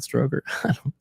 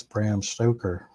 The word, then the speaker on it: Stoker: Is it Bram Stoker? Stoker, not Stroker.